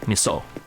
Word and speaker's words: miso: something like uh miso that's how we pronounce miso in the Philippines miso just put some miso